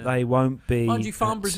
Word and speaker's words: Farnborough: So it's Farnborough. That's the way you pronounce it. Farnborough.